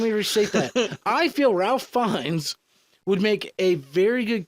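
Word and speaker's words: Ralph Fiennes: feel that Ralph fenes I think I said that right Ralph fines Voldemort it's spelled fenes is it Voldemort yes it's Ralph fines all right let me restate that I feel Ralph fines would make a very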